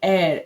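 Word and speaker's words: heir: एयर, H silent है, हेयर to vast property मतलब वो उत्तराधिकारी है बहुत बड़ी प्रॉपर्टी का।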